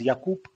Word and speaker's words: Jakub: yeah it's it's uh in czech it's pronounced yakup yeah uh but jacob is completely fine yeah